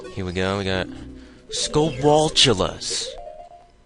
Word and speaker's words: Skulltula: Some people pronounce the T at the end of skulltula or skulltula like as an actual T and not like its CH sound. I don't know where I got that. I always pronounce it like that. Maybe it's because it's like spatula.